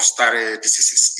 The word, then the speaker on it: stare decisis: It is called stare decisis. It means, I will spell it for you.